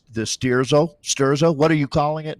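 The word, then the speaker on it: Sterzo: It's the Sturzo. What are you calling it, Nathan? How do you pronounce that? Sturzo, Elite Sturzo, the Elite Yep.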